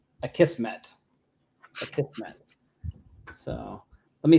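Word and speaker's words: Akismet: you spell it but says on their site you say it a kissm a kissm so let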